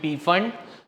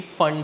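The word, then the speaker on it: Pfund: टू बी फंड series जिसका पी silent होता है ट्स वा वी से टू बी पी फंड बट इट इ actually फंड series F यू एनडी फंड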